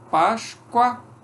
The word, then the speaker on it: Páscoa: Páscoa, o O é pronunciado como U.